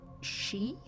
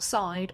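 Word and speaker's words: sídhe: I've been informed that it's pronounced she, not side or sides.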